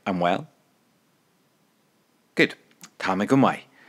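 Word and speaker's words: Tá mé go maith: Tamigumai. Tamigumai.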